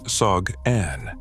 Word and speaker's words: Sogn: On February 23, 2018, police transferred Sindri to Sogn, pronounced Sog-An.